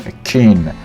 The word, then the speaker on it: akin: So pronunciation akin, stress on kin, akin.